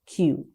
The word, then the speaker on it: queue: And queue is spelled Q-U-E-U-E. Q-U-E-U-E. It's Q.